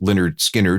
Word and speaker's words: Lynyrd Skynyrd: studio their first album pronounced Leonard skinnard in 1973 sold a